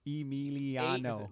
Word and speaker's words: Emiliano: Dude, I have fucking 5 syllables in my name. Emiliano.